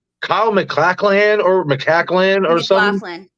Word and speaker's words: MacLachlan: Kyle MacLachlan or something. McLaughlin.